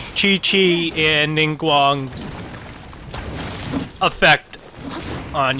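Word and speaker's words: Qiqi: I'd be ecstatic too I keep calling her Kiki when she's pronounced Chichi one of these days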